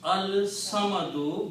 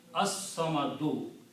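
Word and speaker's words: الصَّمَدُ: dhamma, and it becomes al samadu, but swad is a shamsi letter, so its sound will change into, lam sound will change into swad, so it will be pronounced as as-samadu.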